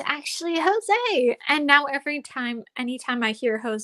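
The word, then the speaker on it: José: mom's like Oh no the name is Jose I definitely pronounced it as Josie because I didn't understand uh it was different in Spanish yeah no like it's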